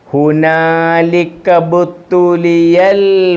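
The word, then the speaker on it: هنالك ابتلي: ഈ അലിഫിന് ഉച്ചാരണമില്ല. ഹുനാലികബത്തുലിയൽ കണ്ടോ?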